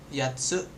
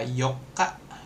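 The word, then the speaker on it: 八: 1 2 Nah, oke udah S dia bisa yat yatse untuk delapan buah delapan benda kemudian bisa dibaca yoka. Yok. Yoka itu tanggal 8 atau hari 8. Kemudian dia bisa dibaca haci kalau jadi bulan tahun atau 8 orang.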